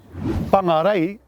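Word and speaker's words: Whangārei: know a place called pangarei is actually correctly pronounced ray with a macron over the second a so so be vigilant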